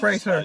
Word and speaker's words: Fraser: Rhymes with razor, Brendan Fraser.